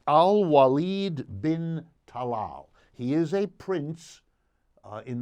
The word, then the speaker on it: Al-Walid bin Talal: His name, for everyone to know, and I want to be sure to pronounce it correctly, Al-Walid bin Talal.